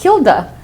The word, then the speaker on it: Hilda: name in english was Hilda normally my name in spanish the H is silent so you just say e de el de so Hilda was like